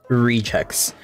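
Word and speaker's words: regex: we're going to be going over is called rechecks so to spell that you you do r-e-g-e-x and you're going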